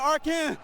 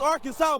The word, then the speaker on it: Arkansas: It ain't Arkan, it's Arkansas, baby.